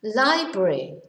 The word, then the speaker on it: library: bit tricky to pronounce library going to the library not the library so this is difficult because we don't pronounce every letter library which of course